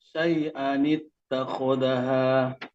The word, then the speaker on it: شيئا اتخذها: Wa idza alima min ayatina syai'an ittakhazaha atau langsung syai'at takhadha. Syai'an ittakhadaha. Ya. Wa syukran. Buang tanwinnya satu dan tambahkan nun kecil syai'an ittakhadaha.